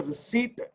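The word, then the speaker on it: receipt: तो that document, रसीद, जो रसीद मुझे मिली है, जिसको हम इंग्लिश में रिसीट कहते हैं, बी साइलेंट, जो रिसीट मुझे मिली है, जो रसीद मुझे मिली है, वो रीजन बन जाएगा ट्रांजैक्शन को लिखने का।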